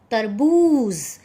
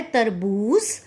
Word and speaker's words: तरबूज़: बता चुकी हूं कि जब जो के नीचे एक बिंदी का प्रयोग किया जाता है तो उसकी सही उच्चारण जो है वह जो नहीं रहता उसका सही उच्चारण होता है द्रव इस वजह से यह सब अ जो है वह है तरबूज़ ना कि तरबूज तो बच्चों इस प्रकार